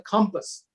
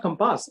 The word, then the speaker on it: compass: There is a compass. People pronounce this as compass. It is not compass. It is compass.